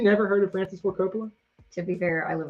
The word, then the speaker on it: Coppola: had a like four mitsubishi yeah like four syllables in that question 19 which disney attraction did francis ford cappella that's why i shouldn't be allowed to read the questions which disattraction did francis ford coppola help create have you never heard of francis